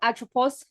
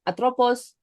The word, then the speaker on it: Atropos: Then we have atropos here.